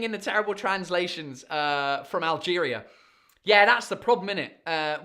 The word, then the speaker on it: Alger: Claire Angelina says similar story in Algiers, capital of Algeria. Is it Algiers? How do you say Algiers in French? Oh, Alger. It's not Algiers.